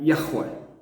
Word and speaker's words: Yahweh: Que na pronúncia hebraica seria Yahweh, que é o nome que